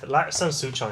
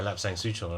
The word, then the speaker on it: Lapsang Souchong: Yeah, Lapsang Souchong, I think is the like the Hokkien pronunciation.